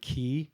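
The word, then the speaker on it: quay: you i don't know the word key down there is spelled q-u-a-y and so when you're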